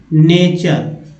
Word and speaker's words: nature: इसी तरह देखिए NATURE, क्या वो उच्चारण करते हैं? नेचर।